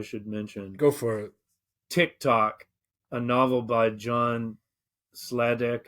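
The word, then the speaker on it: Tik-Tok: app but uh and it's spelled the same way t-i-k -t-o-k but with a hyphen in the case of the novel so Tick Tock is a robot that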